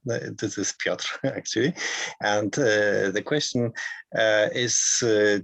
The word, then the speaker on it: Piotr: Okay, so thank you, Mike, for the pronunciation. This is Piotr, actually.